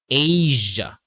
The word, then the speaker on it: Asia: Or Vietnam in Asia. Okay, so that first A sound is a long A sound, and we use a Z sound for the S sound.